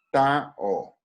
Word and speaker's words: tau: La letra se llama Tao. ¿Listo? Entonces el torque se escribe con esto.